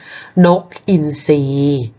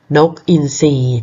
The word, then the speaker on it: อินทรี: อ่าน ว่า อะไร คะ ลอง ใช้ หลัก การ ที่ คุณ ครู สอน นะ คะ ทร Bento โซ่ เพราะ ฉะนั้น คำ นี้ ก็ อ่าน ว่า นก อินทรี นก อินทรี ดี ค่ะ ไป ต่อ นะ